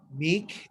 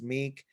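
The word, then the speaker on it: Mek: other than that um meek is my band it's spelled m-e-k like mech but it's meek uh band uh you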